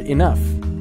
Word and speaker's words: enough: notice that we have a word enough e-n-o-u-g-h and that g-h sound at the end makes an f we also have the